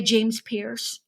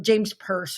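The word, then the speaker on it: James Perse: your t-sh are they are they James Pierce or James purse I guess is how you say it those are like you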